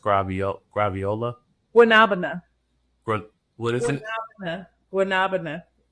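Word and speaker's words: guanábana: And I believe it's pronounced graviola. Guanabana.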